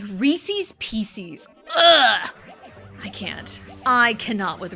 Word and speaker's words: Reese's Pieces: Nothing drives me more bonkers than than anyone saying Reese's. PCs. I had a friend that said it like that and it just it drove me insane. It drove me to madness. It's like that's not what it is. That is not what it is. It is not Reese's Pieces. It's Reese's Pieces. It's like you're a grown ass woman. You're not five.